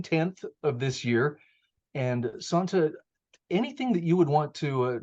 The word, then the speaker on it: Santa: say your name wrong I believe it is pronounced Santa is that correct correct thank you Santa Molina